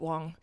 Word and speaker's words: Wang: All the WAY FROM NEW YORK CITY, WANG. OH, I forgot to tell you. I pronounce it Wong.